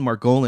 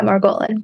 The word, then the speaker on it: Margolin: double do talk show today we have margan am I pronouncing that right yeah Maran cool nailed it and uh she has been